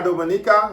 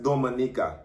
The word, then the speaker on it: Dominica: Yes, la República Dominica no es Dominica. Dominica is Dominica. That's how we pronounce it.